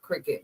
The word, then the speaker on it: Cricut: Cricket is spelled C R I C U T. Cricut. Cricket. Oh, I spelled it like the uh the insect. Wait. Nope. Nope. Not the insect.